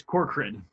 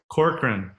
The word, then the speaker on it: Corcoran: am I pronouncing your last name right? Yeah, it's Corcoran. Corcoran.